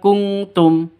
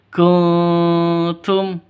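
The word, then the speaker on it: كنتم: ini tidak usah inum jadi bacanya bukan kuntum ya bukan kuntum tapi kunum samar Oke tapi siap-siap ke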